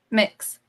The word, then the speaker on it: MX: Mix. Yes. Mix MX. Mandy. Mix Mandy. So not Mandy. MX. Okay, Mix Mandy. It is MX, but that's how you say it.